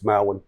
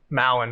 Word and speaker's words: Mowen: How do you say it? It's Mowen. Mowen. All right. Yeah. Swing and a miss. Industry standard, man. Everybody says Mowen.